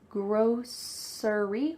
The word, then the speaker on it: grocery: you can say grocery Grocery with an s Grocery but you're more likely to hear at least that's what I say you're more likely to hear grocery like an sh grocery grocery store is